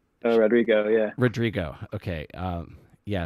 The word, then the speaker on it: Rodrigo: totally be an old man and get her name wrong but I think I think her name's Olivia Rodriguez Rodrigo yeah Rodrigo okay um yeah so I I